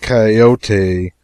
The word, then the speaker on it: coyote: if I remember rightly this latter was a regular coyote pronounced coyote of the further desert and